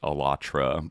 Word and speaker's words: Allatra: So, I mean either way I for ease of pronunciation I'm going to I'll go with how they usually say it in their kind of PR uh output as like elatra.